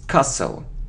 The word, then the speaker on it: castle: sour sour sour sour it isn't Castle no we don't pronounce it it's Castle okay so you see